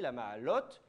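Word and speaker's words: לַמַּעֲלוֹת: Par exemple, ici, la ma'alot, la ma'alot, oui, mais le la, il n'est pas accentué, mais il ne faut quand même pas aller trop vite.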